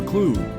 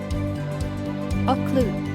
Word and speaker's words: occlude: are always open but when you occlude rhymes with exclude they are unwelcome and hence the gates are shut or closed on them include sounds like conclude occlude shut close officious